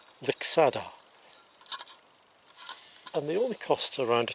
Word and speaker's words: Lixada: begin assembling the stove the correct pronunciation for the stove is Vic solder and the only costs